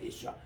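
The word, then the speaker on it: ישוע: 예수아라고 이렇게 발음하는데 그 다음 말에 보면은 이분이 바로 우리가 기다리는 한 마시아흐라고 이렇게 그들이 기다리고 있습니다.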